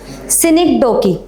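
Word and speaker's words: synecdoche: What will be the correct pronunciation of this? Anyone? सिनिक डोकी this is सिनिक डोकी okay see this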